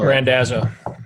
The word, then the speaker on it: Randazzo: Is it Randazzo? Perfect. Yep, Randazzo.